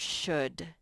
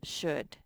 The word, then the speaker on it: should: here twice junk junk and the word should that l is silent and that's one that one is on your test should okay so let's track